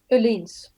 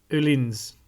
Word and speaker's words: Öhlins: Öhlins. Öhlins. This is the Swedish pronunciation.